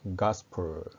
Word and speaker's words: gospel: gospel, 가의 강세가 있습니다.